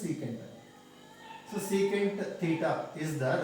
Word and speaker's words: sec: Some teachers will say sec theta. Their wish, their teachers, how they said for them, they will pronounce like that only, leave it out. Important one is SEC, you have to write it and they have to pronounce as secant.